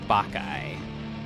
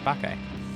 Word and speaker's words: Bacchae: streaming services so again we're called baky b a c c h a e and now you know how to pronounce it too baky a strange Arrangement was